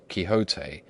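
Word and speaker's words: Quixote: Misfortune to know that the gentleman's name is pronounced kote when ignorance from out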